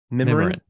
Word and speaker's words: Mimiran: Go into the show notes, check out Reuben Swartz and the I said it wrong. How do you say it again? Mimiran. Mimiran. That's all we got.